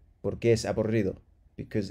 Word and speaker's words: aburrido: Double R, let yourself go. R. Porque es aburrido.